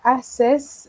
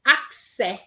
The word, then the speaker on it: accès: Avoir accès à Internet. Rihanna? Avoir access à l'anti... Can I go again? OK. Avoir access à Internet. OK, Rihanna is accès. Accès, not access, OK?